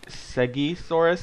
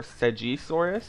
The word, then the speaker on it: Segisaurus: say okay so info i don't know if you say segi soros or sagisaurus but i do know the place where it came from is pronounced segi so i'm pretty sure it's segi but you can say sejisaurus i think but it's it's more likely to be segi to stegosaurus um it's